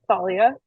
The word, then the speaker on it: Thalia: I was just wanting to tell you that it's pronounced like the Thalia.